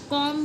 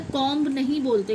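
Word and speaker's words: comb: कॉम बोला जाता है। कॉम्ब नहीं बोलते। कॉम्ब नहीं कॉम।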